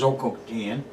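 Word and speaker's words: Zhoukoudian: The first one is the most famous one, Choukoutian, nowadays spelled and pronounced Zhoukoutian, which is about 30 miles southwest of Beijing.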